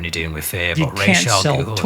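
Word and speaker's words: Ra's: him to in the he's supposed to be pronounced ra but whatever I'll let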